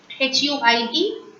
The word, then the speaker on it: huit: HUIT. Huit. H remains silent. So we start the word with the alphabet pronunciation U. Huit.